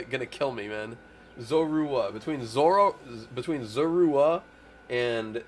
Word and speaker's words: Zorua: Zurua. Zerua. Dude, I fre those names are always gonna going to kill me, man. Zorua.